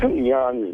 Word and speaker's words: Jon: How come Jan's name is spelled Jon? Yeah, because when you're from that part of the world, Jon is Jan.